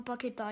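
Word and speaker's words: Paquetá: Allora, alcuni lo chiamano Pacchetta, alcuni Pacchetta, però si chiama Pacchetta in teoria. Eh sì, perché ha l'accento sulla A, quindi Pacchetta.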